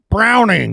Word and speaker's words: Browning: Browning. Yeah. That's how you say it. Yes. Browning.